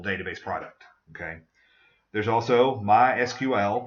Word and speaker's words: MySQL: There's also MySQL. That's the only time you pronounce the letters separately.